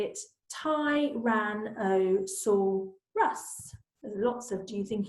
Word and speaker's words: Tyrannosaurus: then it says how do you say it ty ran I saw Russ lots of do you think he saw us